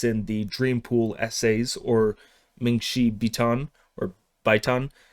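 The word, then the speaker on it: 梦溪笔谈: the Dreampool Essays, or Mingxi Bitan, or Baitan. The way to pronounce that is kind of contested, so I'm just going Mingxi Bitan. That's that's what I'm sticking with.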